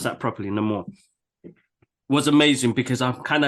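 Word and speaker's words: Namor: Ney more NE more NE more let me pronounce that properly NE more was amazing because I'm kind of so happy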